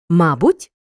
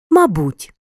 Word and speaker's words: мабуть: слова в українській мові мають подвійний наголос алфавіт алфавіт завжди завжди мабуть мабуть в українській мові на